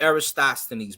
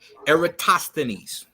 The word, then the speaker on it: Eratosthenes: Look up Eratosthenes, my brother.